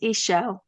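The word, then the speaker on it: Ixchel: a Mexican goddess Medicine Woman so it's actually pronounced iSell in Mexico um but yeah so she was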